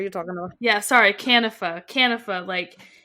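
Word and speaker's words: Kanifa: I don't know, but they're I think the audiobook said Canifa. Canifa. Okay, oh wow, that's definitely not how I pronounce it in my head. Was it Canifa, Lauren, or Conifa? It was Canifa, yeah.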